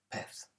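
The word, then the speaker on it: pez: of c's and zeds in mainland spain most people say pes so it's like a th sound in latin america so it's more of an s a fish a hamster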